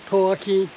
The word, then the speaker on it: 兔子坑: The Taiwanese pronunciation of "Tuzikeng" is "Thòo-á-khenn".